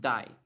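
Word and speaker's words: 台: So in Japanese, this is usually pronounced Dai, but I can use Thai as well in some cases.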